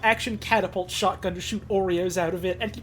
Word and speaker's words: Oreo: a rubber band powered Oreo Cannon essentially and the fact that he just pronounces it Oro for the entire video seemingly intentional with no idea what he's doing it's really good it